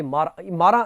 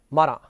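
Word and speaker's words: Marat: Robespierre, तो इसमें एक नाम आया रॉब्सपियर का, और दूसरा ये मारा इसका प्रोनाउंसिएशन है, मारा।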